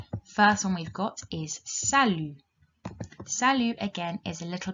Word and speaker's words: salut: So we've got salut, that T is silent on the end, bonjour, bonsoir, au revoir, à tout à l'heure.